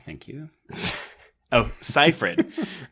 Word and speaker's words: Seyfried: Oh, also, can we pronounce her name correctly? It's Siegfried. Thank you. Oh, Seyfried.